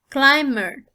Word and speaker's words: climber: of word numb again the bass sound is not pronounced here let me this is not pronounced so it's climber a person who climbs